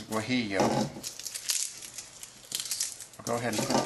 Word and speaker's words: guajillo: And then we found out the name of the pronunciation of that pepper. It's guajillo.